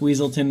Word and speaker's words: Weaselton: But yeah, it's actually pronounced Weaselton in Zootopia because he's actually a weasel. It's Wesselton though in Frozen.